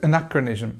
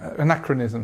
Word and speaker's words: anachronism: correct anachronism anachronism okay so again because we have this uh stress on the second syllable we have this schah this sound here so anachronism anachronism excuse me what does